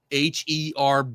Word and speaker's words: herb: says the pronunciation of Herb B depends on your region. Americans pronounce it as herb without the h sound while people in the UK pronounce it as herb with the h sound.